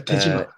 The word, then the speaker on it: Dejima: Dutch trading post called Dejima. I don't know how you pronounce it. Yeah, Dejima. Dejima. Yes, Dejima.